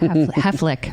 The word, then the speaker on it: Haflich: Haflich.